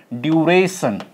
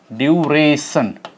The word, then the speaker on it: duration: okay they all have they all are Tri syllabic words okay and they all get stress on their they they all have their primary stress on second syllable second syllable okay second syllable you